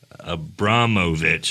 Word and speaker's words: Abramovich: best Dr Sam Abramovich a brahmovich is how he tells me to spell it or pronounce it and then assistant professor